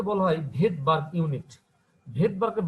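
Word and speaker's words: Svedberg: এসটা আসলে এস কে বলা হয় ভেদবার্গ ইউনিট ভেদবার্গের বানানটা হচ্ছে এস ভিইডি বি আরজি বাট এসটা উজ রাখায় একে আমরা বলি ভেদবার বলা হয় সিটবার্ বলা হয় না বলায় ভেদবার এসটা মানে ভেদবার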